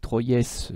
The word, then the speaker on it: Troyes: prononçant pas vous avez celle de troyes et oui ça s'écrit 3ds mais ça se prononce 3 et vous avez la